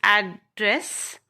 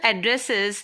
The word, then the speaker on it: address: Now, you can see when we pronounce a noun, the first syllable is pressed, means we pay attention to the first syllable, that is address, the details or location of a particular place.